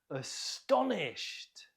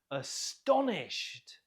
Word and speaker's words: astonished: Astonished. Note the stress on the second syllable. Astonished.